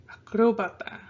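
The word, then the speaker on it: acróbata: you're going to stress listen to it i put more of a stress a firm on here and we'll learn the rules about how accents are done later but just think about how you're stressing on a word if you're saying it right you'll stress in the right part okay i wanted to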